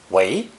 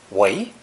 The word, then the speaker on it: 违: It's also pronounced second tone, 围, 围.